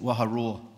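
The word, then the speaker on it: Waharoa: And think of a lion, what a lion does, a lion roars, and that's how we pronounce that, Waha Roar.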